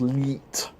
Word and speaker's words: L337: Kira's talking to this droid that's called Leet. L337. Pronounced Leet. Or not.